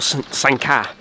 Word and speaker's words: St-Ca: St-Ca, or Sanka, as the way you pronounce it, is a beautiful layout.